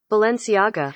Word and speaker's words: Balenciaga: Balenciaga. Pronunciation. Balenciaga.